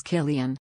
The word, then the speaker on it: Cillian: of his name is Killian the C is pronounced like a hard k fact three Batman Begins